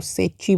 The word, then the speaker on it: Secchi: सेक्की disc. Spelling देख लो, सेची बोल सकते हो, SECCHI, सेची।